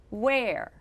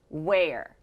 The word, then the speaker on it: where: we would normally expect we would think that the e in the middle is pronounced e but it's actually pronounced er so the word is where where are my shoes the